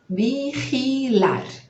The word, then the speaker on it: vigilar: Escreve quase igual, só vai colocar um L aí no final. E escreve vi, né? E a gente vai ler o bi, gi, vamos ler ri, e ao final, lar.